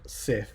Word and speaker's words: Sif: actually the North's God save the Norse God SIF SIF that's how you spell it who is actually connected in Norse mythology